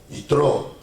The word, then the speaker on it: Yitró: Entonces en español le pusieron Jetro, pero su nombre verdadero es Yitro, con acento en la última O, no Yitro, sino Yitro.